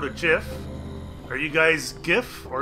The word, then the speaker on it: GIF: Are you guys GIF or are you guys JIF? I'm curious about that, because JIF is the proper way to pronounce it.